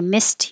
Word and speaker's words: missed: air and it sounds the same as mist because the e d here sounds like a t i missed your call me mi